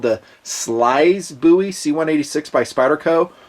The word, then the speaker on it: Slysz: should be called the Slysz Bowie C186 by Spyderco. Proper pronunciation, my understanding, is a Swysz, Polish pronunciation. He's a Marcin Swysz, I think, Polish designer, put this knife together in this collaboration.